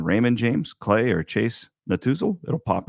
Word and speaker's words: Netusil: The easiest way is just go to Google and type in Raymond James, Clay, or Chase Natuzil.